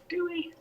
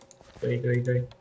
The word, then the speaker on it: GUI: And yes, it's pronounced GUI. Hey, Soren. Come to chill? Bees sting. No, but if you get close to the ones inside the fence, they do. Gooey. Gooey.